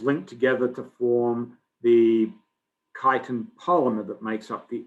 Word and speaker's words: chitin: Some people say chitin, but I say chitin. I think that is the preferred pronunciation.